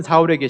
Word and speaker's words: 사울: 이 사울이 변하여 바울이 되는 것은 아니고요. 히브리식 발음이 이 사울이고 이 헬라식 발음이 바울이에요.